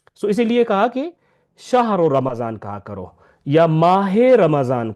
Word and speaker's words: رمضان: Mention بھی کیا ہو، را یعنی رے کے اوپر زبر ہے، میم کے اوپر زبر ہے، زواد کے اوپر بھی زبر ہے، رمضان، رمضان نہیں ہے یہ رمضان۔ اور دوسرا یہ ہے